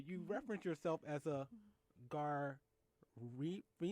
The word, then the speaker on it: Garifuna: us, because reading your bio, you reference yourself as a Garifuna? Garifuna. Garifuna. Garifuna. The accent is on the second syllable.